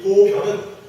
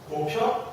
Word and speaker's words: 보변: 이 보변은 보편이라고도 읽기도 하죠. 그러니까 보편이라고도 읽혀지기도 하고 보변으로도 읽힙니다. 보편 혹은 보변이에요. 통상 우리가 일상생활에서는 보편적이다 이렇게 많이 읽지만 불교에서는 그렇게 안 읽어요. 어떻게 읽어요? 보변 이라고 읽어보죠. 보변.